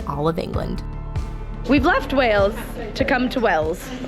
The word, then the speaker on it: Wales: We've left Wales to come to Wells. Do you even hear the difference in those two words? If I say it like this, Wells, Wales, Wells, Wales, Wells, Wales.